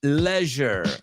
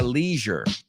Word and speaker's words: leisure: Make the most of this treasure while we cash in leisure. Lo voy a pronunciar a la británica porque sé lo que estás haciendo. Si no, diría leisure.